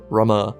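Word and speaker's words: Ramuh: Rama, it's spelt Rama, but it's pronounced Rama, and he gives his power willingly.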